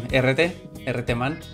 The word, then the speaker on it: Herreteman: This is Neo Dolphins with you, and I'm Herreteman. That's the correct pronunciation.